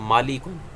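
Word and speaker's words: مَلَك: फरिश्ते को कहते हैं और मालिक और लाम की जेर के साथ जो है यह अगर इसको प्रोनाउंस करेंगे तो यह फिर मालिक यह बादशाह को कहते हैं जिसकी जमा मलूक है और मालक उन फरिश्ते को कहते हैं जिसकी जमा मलाइका है तो अल्फाज को फिक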